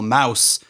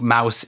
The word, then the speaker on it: Maus: voted to remove the pulitzer prize-winning graphic novel mouse from the eighth grade language arts curriculum due